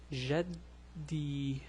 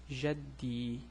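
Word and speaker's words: جدي: And we have shadda here, so it's jaddi, jaddi, my grandfather.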